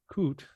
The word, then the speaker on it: COOT: And what's interesting is COOT, do I pronounce that properly? Yes.